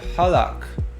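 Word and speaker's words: הלך: We have Halakh.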